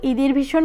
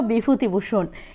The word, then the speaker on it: বিভূতিভূষণ: বললাম কি রকম বাক্স লেখকের নাম ছিল বিভূতিভূষণ কিন্তু তাকে বিকৃত করে ঈদের ভূষণ উচ্চারণ করায় লেখক একটু রেগে গেলেন।